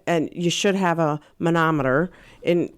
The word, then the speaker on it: manometer: I first saw this I was like a manometer a manometer right yeah m a n o